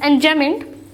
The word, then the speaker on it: enjambment: Its name is enjambment. B silent है इसमें बेटा, इट्स एंजॉयमेंट।